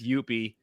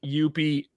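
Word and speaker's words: Youppi!: chance to look up Youppi, and I put it with an exclamation point on the board because that's how it's pronounced. You have to put an exclamation point at the end.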